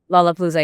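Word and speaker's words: Lollapalooza: U Juno and Lola Palooa. I hope that I've pronounced that that that right. Is it Lola Palooa? Lola Palooa.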